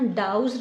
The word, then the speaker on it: douse: हमारा डाउज, इसके प्रोनाउंसिएशन पे ध्यान रखना, डाउज रहेगा इसको। ठीक है, DOUSE, डाउज।